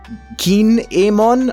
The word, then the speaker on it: Kin'emon: that kinemon and i people make fun of my pronunciation they say i pronounce it like a pokemon kinemon is a keen emon i don't care i'm gonna call him kinemon do i double down